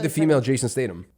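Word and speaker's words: Statham: like the female Jason Statum that's how you say it though Statum stay thumb stay thumb but whatever it's crazy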